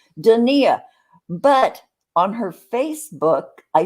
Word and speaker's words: Donia: yeah yeah yeah and i said dania because i asked jiggy her son how do you say your mom's name dania and he says dania but on her facebook